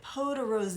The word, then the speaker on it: Peau de Rose: I have the shade Peau de Rose. I always thought it was Peau de Rose, but it has the accent on the end.